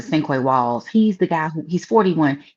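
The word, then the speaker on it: Sinqua Walls: I think you pronounce it Cinque Walls.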